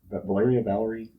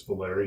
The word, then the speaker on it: Valeria: That's a good place where you can go and learn about Valeria, Valerie, It's Valeria. Valeria, I believe is yeah. how you say it.